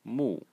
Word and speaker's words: 木: given name of the girl so this is Moo Mo and this is Lan LAN the small